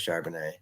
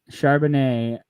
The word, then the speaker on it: Charbonnet: I did hear someone say his name on the radio, and I believe it was Charbonnet. Charbonnet.